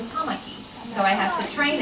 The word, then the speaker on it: Tamaki: But you know, most people might look at some of the names, like the 3-syllable names, and maybe they would say Tamaki, but it's really Tamaki.